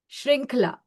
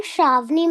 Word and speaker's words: Shravani: Yes, we have Shrinkla. Shrinkla is, am I pronouncing your name correctly, Shrinkla? Ma'am, I'm Shravani.